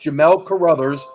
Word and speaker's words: Carruthers: Well, actually, it's pronounced Jamel Carruthers, and Okay.